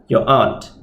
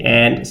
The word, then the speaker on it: aunt: Your mother's sister is your aunt. Okay, there are a few pronunciations here. Some say aunt, some say aunt. I'm fine with both, asalkan faham.